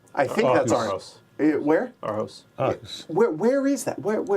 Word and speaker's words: Aarhus: So apparently it's Aarhus.